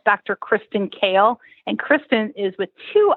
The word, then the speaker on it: Kahle: so it's kristin k-r-i-s-t-i-m and then k-o like the vegetable even though the h in kale is silent so it's k-a-h-l-e and